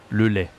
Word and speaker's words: lait: Le lait. Ça s'écrit A-I-T. Le lait.